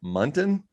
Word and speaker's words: Munton: james and i didn't ask him about her pronounce his last name muntin oh spot on you got it right first